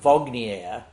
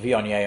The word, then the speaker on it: Viognier: And then you show them the bottle and they're like, oh, I've heard of Vognier. I'm like, well, you mean Viognier, only pronouncing correctly.